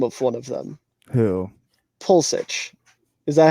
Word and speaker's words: Pulisic: Pulisic. Is that how you say it? Close. How do you say it? Pulisic.